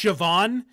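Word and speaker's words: Siobhan: i o b h a n but it's sioban like yeah but this guy's name is oh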